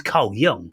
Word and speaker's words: Jung: guy called K Jung Cole Jung but it's Cole Jung you know spelled with a J and I didn't know